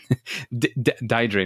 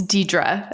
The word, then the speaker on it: Diedre: So, Diedre, no, I got it wrong. I know I got it wrong. Are you prepared to engage? And please correct me on the right pronunciation. It's Diedre. So very close.